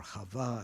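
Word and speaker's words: חוה: And Eve, or Chava as she's pronounced in Hebrew, means life-giving.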